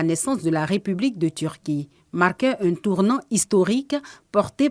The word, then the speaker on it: Türkiye: C'est Turquie et on prononce Turquie.